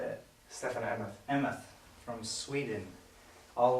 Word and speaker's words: Stefen Emmoth: Stefen Emmoth.